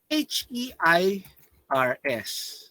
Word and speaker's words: heirs: H-E-I-R-S, heirs, silent H.